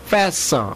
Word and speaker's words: FAFSA: 그 중요한게 사라는 겁니다 fafsa 있데 그 fafsa 사 또는 어떤 미국 사람은 패사 뭐 그렇게도 있습니다 그 발음을 그렇게 하는데 그게 공립 학교나 사립학교